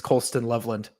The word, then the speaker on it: Colston Loveland: and by skill players I think you mispronounced his name as name is Colston Loveland that's how you said